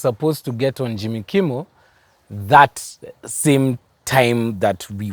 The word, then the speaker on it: Kimmel: He's supposed to get on Jimmy Kimmel that same time that we were supposed to go live with him. They were supposed to record. Umepronounce jina vizuri, Kimmel.